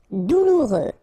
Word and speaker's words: douloureux: Douloureux. Remember, final X not pronounced, so you get this OU together. Ou, douloureux.